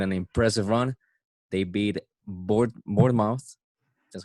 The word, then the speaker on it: Bournemouth: They beat Bournemouth. That's how you pronounce it.